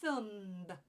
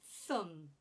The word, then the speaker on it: thumb: so we don't say Thum we don't pronounce the B we just say Thum Thum fasten again there's